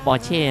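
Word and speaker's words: Porsche: ไป หมด เลย โอ ปอเช ปอเช ภาษา เยอรมัน เขา อ่าน ว่า porche นะ ครับ ผม ไอ้ พอส ผม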